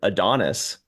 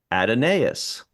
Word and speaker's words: Adonais: in one thing, it said it's pronounced just like Adonis. I'm like, that's pretty weird. It's a weird spelling for Adonis. And then another one said, very clearly the English, British English, American English, and Australian English pronounces it Adonais. So it sounds like 3 out of 5 are saying Adonais, and I think that's good enough for me.